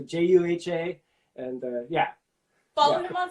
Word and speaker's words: JUHA: say, please go follow JUHA on Spotify. Did I say it right? Yeah, it's good. It's J to the U to the H to the A. So JUHA, and yeah.